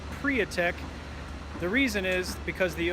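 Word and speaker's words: Priatek: the the prior tech building it is not pronounced protect its priya text the reason is because the owner of the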